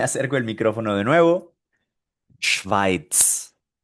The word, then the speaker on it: Schweiz: Esto se pronuncia, me acerco el micrófono de nuevo, Schweiz, Schweiz, Schweiz.